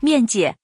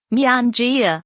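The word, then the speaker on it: 面姐: is 面姐 not Mianjia. Sorry, I couldn't tell the difference.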